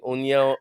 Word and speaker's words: União: You say union, but we don't start with U. We just start with the sound U. União.